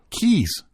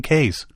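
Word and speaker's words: cays: 700 yeah now they talk about C A Ys okay Keys oh is that how they that's how they spell it yeah CU I've always called them K's huh well in Florida they call them Keys yeah that's and they're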